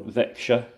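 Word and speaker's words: Växjö: and Royal Mint and it actually tells me how to pronounce this one vexa which looks like vaxo where secred built a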